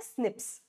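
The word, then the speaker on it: SNPs: पॉलीमोर्फस जम ठीक है तो इसको हम प्रोनाउंस करते हैं स्निप्स क्या है फायदा इस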